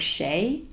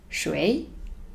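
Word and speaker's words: 谁: the meaning of the word Shea or another pronunciation schway which means whoo-hoo soul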